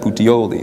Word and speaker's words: Puteoli: I think is how you say that, Puteoli. Sounds very Italian.